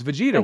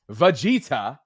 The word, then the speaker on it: Vegeta: But Richard writes, who's a channel member, says it's pronounced Vegeta like Vegeta. No, it's Vegeta. We just figured that out, Richard. That didn't help, that pronunciation guide. Deshaun's like, no. Listen, Bobby was right. It's Vegeta, okay?